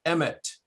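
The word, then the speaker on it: אמת: And so basically they would stamp Aleph, Mem, Tav on top of the head, which interestingly is pronounced Emet, Emet.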